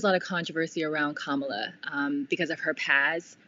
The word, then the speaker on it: Kamala: be too all right so joe biden pick hamila harris and her name is pronounced kamala kamala harris for those listening kamala as his